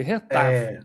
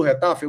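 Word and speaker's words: Getafe: Vamos descobrir a pronúncia correta do time, tá? Retafe. Retafe. Retafete. É assim como no dia lá do Fenerbat, a gente descobriu a pronúncia correta, fica aí a informação que é retaf.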